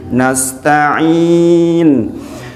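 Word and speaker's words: نستعين: itu tawasud ngih jadi nastain kemudian Sin di sini jangan lupa sifat saofir dan hamusnya jangan lupa ada desis dan ada angin Nas Nas nastain pokoknya kalau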